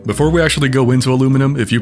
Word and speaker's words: aluminum: Before we actually go into aluminum, if you pronounce it aluminium, find the power button to the device you're watching this on and hold it down until your screen goes black.